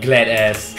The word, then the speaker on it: Gladius: Glad ass. Yes. Glad ass. Yes. Yeah, let's spell it like this. So it looks like Gladius, but it's actually glad ass.